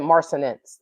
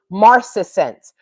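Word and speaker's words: marcescence: So the track title Mar Maris Marcus I said marinence that's not how you pronounce it maretsense marcesense m a r ces ce n ce marcense remained visible on remained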